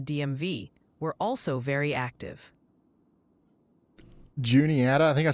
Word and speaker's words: Juniata: Folks in Cabaris County, NC want to hear Cabaris and it's Juniata for Juniata County, PA. A bit earlier in the past hour, General North Carolina chat and the DMV were also very active. Juniata, I think I said Wanita, my bad.